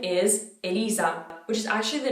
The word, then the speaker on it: Elisa: to the other names the first name is elisa which is actually the name of the very famous singer in italy maybe people would say how they say my name alyssa i have no idea let me know how